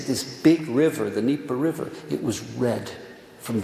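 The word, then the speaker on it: Dnieper: they all saw this it's pronounced uh in it's d-n-i-e-p-e-r the nipper you know the nipper river they describe you know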